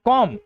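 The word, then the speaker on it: comb: वहीं इन्हें पढ़ते हैं कॉम। देखिए ब नहीं होता। कॉम यानी कंघी।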